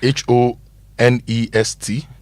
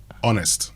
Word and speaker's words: honest: pronounce the h and h o n e s t honest honest in that case you don't pronounce the h okay so there okay